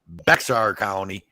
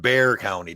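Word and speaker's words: Bexar: fuck they call it they call Bear County but they call it Bear County down here yeah I seen that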